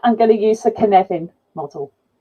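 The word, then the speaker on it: Cynefin: to do that I'm going to use the canevin model it's pronounced like Kevin within an in and really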